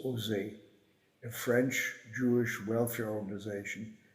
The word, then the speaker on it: OSE: France cared for by ose pronounced Jose a French Jewish welfare